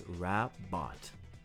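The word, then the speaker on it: Rabbot: as far as to introduce herself with a pun off her family name, pronouncing it as Rabot.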